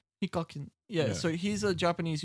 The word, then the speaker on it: Hikakin: When I was looking it up, they had this year was meant to have Hikakan, I think. Oh, Is that how you say his name? Hikakin.